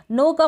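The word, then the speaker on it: knock: Same ऐसे ही नॉक में K silent है, N से पहले K है इसलिए। फिर यहाँ पर नी है ना, N से पहले K है तो यहाँ पर K साइलेंट है। नीड में भी ऐसा है, नीड में भी ऐसा है, N से पहले के है, तो इन सारी स्पेलिंग्स में N से पहले के है और हम के को प्रोनाउंस नहीं कर रहे हैं।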